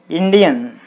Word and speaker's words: Indian: So you put the stress mark on IN, IN, then it will be Indian, Indian.